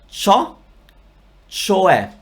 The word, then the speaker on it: cioè: Is that in pronunciation or in meaning? Ciò, cioè.